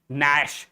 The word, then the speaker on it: gnash: Here K is silent and the last but not the least this word gnash. Here G is silent because I have already